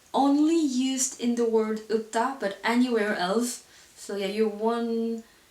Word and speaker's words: 없다: Same for this one, you have L, P, but we only pronounce P. And as I told you earlier, when you have P at the final position, it sounds like B. So the actual pronunciation for this word is 없다.